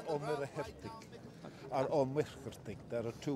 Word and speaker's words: Muircheartaigh: I'm Mícheál Muircheartaigh. And Muircheartaigh is a long and very difficult surname to pronounce, especially for people on the other side of the English Channel or the Irish Sea.